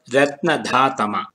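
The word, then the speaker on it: रत्नधातम: The main accent or the udātta is on the vowel a of the syllable dha. The syllables ra and na are marked with the anudātta. The dha as the udātta, the ta is marked with the svarita, the enclitic svarita, and ma has the anudātta.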